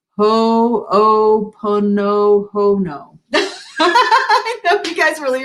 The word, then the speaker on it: Ho'oponopono: All right, and then Keith says, I think it's pronounced Ho'oponopono.